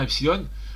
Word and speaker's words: epsilon: Là, on prononce bien epsilon en maths ou en grec classique.